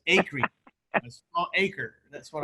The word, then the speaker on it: Acree: Is that how you say it, Acree? Dude, you got it correct, and I am impressed because very, very few people get my name correct. They say Acree or Acree, so Acree.